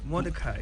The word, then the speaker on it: Mordecai: How do you want it pronounced? Mordecai, yeah. Not the Nigerian way of Mordecai.